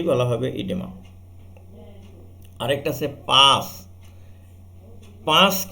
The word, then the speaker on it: pus: এটা বাংলায় বলা হয় কিন্তু পুস, ইংরেজিতে পাস। হ্যাঁ, তো PUS পুসও বলতে পারো তুমি। তাহলে এটা হবে ইংলিশে উচ্চারণ করলে পাস, বাংলায় উচ্চারণ করলে পুস।